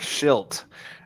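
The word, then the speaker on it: Shildt: or something like it it's pronounced different uh hold on like shilt uh i think autocorrect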